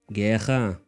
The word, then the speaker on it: guerra: The normally trilled R, represented by double R in writing, as well as by a single R at the beginning of words, is pronounced kh by many speakers.